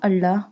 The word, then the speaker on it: الله: Allah pronounce Allah boldly because the word before Allah has a fatha sign.